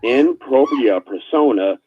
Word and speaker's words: in propria persona: back on no worries the correct pronunciation is in propria persona so we juries all rights reserved and no worries even just jr.